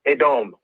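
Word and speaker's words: אדם: it's called in hebrew adam is called uh the pronunciation is slightly different it's a dom a dome wow excellent excellent excellent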